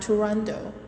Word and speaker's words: Turandot: Scala Patrick Vincent costelli the final T is silent in the Opera's title and the character's name making it sound Toronto soprano Rosa Raisa who